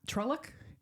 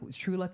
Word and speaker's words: Truluck: have you heard of um trellock and then finally you go it's true and like you said it and you looked at me I was like oh I get it I've been saying the name wrong so where does Truluck